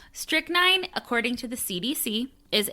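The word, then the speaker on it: strychnine: So, this next one, I actually googled the pronunciation. Okay. Okay. It's called strick nine.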